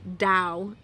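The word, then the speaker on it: Tao: not bring out my book of tau or Dao which is correctly pronounced but those three are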